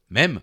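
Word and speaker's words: mème: de l'anglais internet mime il se prononce même en français h un mêmeens général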